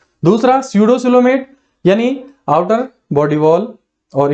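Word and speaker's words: pseudocoelomate: पी यहां पर silent है, स्यूडोसिलोमेट, यानी सिलोम है, रिक्त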